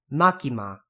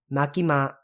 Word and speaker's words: Makima: is just Katakana and keep in mind that the first syllable and the last syllable are going to be pronounced exactly the same so no makima M at the end like that it's ma makima makima kind of sounds like I'm saying Marky Mark with a really heavy Boston accent next is